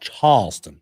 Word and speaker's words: Charleston: It's pronounced Charleston.